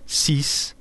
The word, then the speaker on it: six: a consonant excepting dates the number 6 is pronounced cease when it is alone otherwise you pronounce it